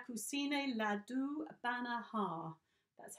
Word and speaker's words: Banaha: bana Havana hi-yah come see Neela do a banner ha that's how you pronounce it banner ha Bana ha yeah cool